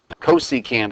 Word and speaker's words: cosecant: a function called cosecant cosecant is how you pronounce that we abbreviate that csc for cosecant notice that we don't